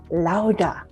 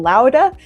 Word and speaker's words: Laura: spanish and in uh in the spanish-speaking culture her name is pronounced lauda and i thought that was beautiful so we may if you don't mind i may interchange calling her laura and lauda so if everyone i